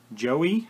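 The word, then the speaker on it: Joie: This is a extra wide lip guard made from a Joey, I think that is pronounced, J-O-I-E, J-O-I-E, egg, silicone egg, I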